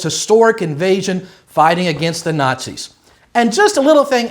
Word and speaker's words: Nazi: From national you get na. I am from socialist or zealist the way a German would pronounce it. You get the Z not C.